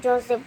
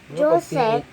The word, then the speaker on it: Joseph: Joseph. Di ba pag PHF yun? Joseph. Ay, naku. Joseph. Mali yun. I always call it Joseph. Hindi. Dapat Joseph. Pag PH, di ba? F yung pronunciation.